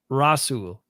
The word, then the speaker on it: Rasul: said an agbarre yeah and rasool Douglas said rasul thank you Russell Douglas